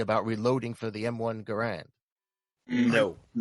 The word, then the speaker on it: Garand: as well I mean his name was Garand that's how we pronounce his name right but just the